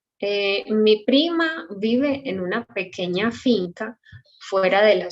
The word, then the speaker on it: pequeña: And pequeña, Q-U-E, sound K. Pequeña, it's 3 syllables.